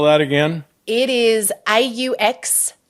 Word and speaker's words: Auxano: Nope, it is Auxano, AUXANO.global. Oh, that's right. So you have a business name. I forgot We have a business name, yeah. How do you spell that again? It is AUXANO. It's pronounced Auxano, and it's a Greek biblical word